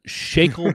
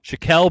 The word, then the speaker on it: Shaquelle: on no okay uh shakel shackle shael Shaquelle would be the correct way to pronounce it I should have more